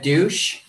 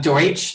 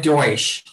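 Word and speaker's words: Deutch: and you but uh ted douche i'm sorry i'm sorry i'm deutsch is that it oh my god i said it wrong again ted deutsch i you know what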